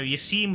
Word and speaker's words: Yassine: I mean, you know, I think it's pretty cool that, yeah, you know, Yassine was #1. Although, you know what? Yassine's not actually pronounced Yassine. It's like more like Yassin.